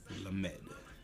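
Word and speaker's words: למ״ד: The Lamed. Lamed. L as in look.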